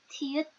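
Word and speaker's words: 티읕: Tuy nhiên nó không đọc là e đâu, mà được đọc là thiết, thiết.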